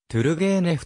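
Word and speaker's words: トゥルゲーネフ: ゲーム f のほかロシア語の発音に近いとぅるげーネフという表記も用いられるロシア中部オリョールに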